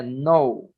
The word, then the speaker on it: know: Liriel, ali como se pronuncia é no. É como se não tivesse o K. E No. daí não é now também, é como se fosse no, como se fosse só o N-U-O.